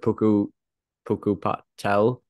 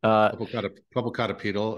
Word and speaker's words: Popocatépetl: that they pointed to the, how do you pronounce it, Popocatépetl volcano? Popocatépetl up by Mexico City.